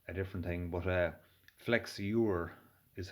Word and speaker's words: flexure: which is uh a different thing but uh flex your is how uh it's pronounced so um these work by just bending